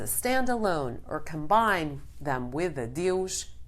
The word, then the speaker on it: adeus: Once again, we have a word that many people think it is similar to the Spanish word, but here too the pronunciation is quite different. Adeus, goodbye.